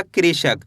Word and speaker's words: कृषक: का में री की मात्रा क्री, श, क, तो मिलके बन जाएगा कृषक।